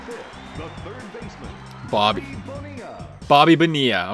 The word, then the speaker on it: Bonilla: Bobby Bonilla. Okay, I was saying it wrong. The two L's are both silent.